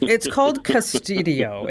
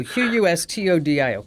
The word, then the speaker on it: Qustodio: Anyway, it's called Custodio, and it's spelled with a Q, Qustodio, Custodio, and.